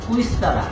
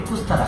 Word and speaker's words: কুইস্তারা: পাশের গ্রামের নাম হলো কুইস্তারা কিন্তু আমরা উচ্চারণ করি কুস্তারা কুস্তারা কুস্তারা কিন্তু কুইস্তারা তারপরে সে আছে ঘুগি